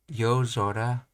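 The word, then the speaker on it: 夜空: Sora, most all compound nouns for which sora is the second component pronounced as zora. So, ozora, so aozora, aozora, then yozora, ashizora.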